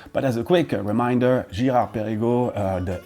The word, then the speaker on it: Girard-Perregaux: Next one can be a little bit more tricky, Girard-Perregaux, lots of R's there, and we indeed don't pronounce these R's the same way around the globe.